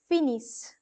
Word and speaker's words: finissent: Finally, you have ils, elles finissent. The reason why I'm pronouncing it as is because ISS is is, and NT again is going to be kept silent here.